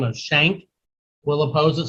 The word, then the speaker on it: Schenck: Also a man by the name of Schenck will oppose it. Some people pronounce it Schink, I think, or Skank, or whatever.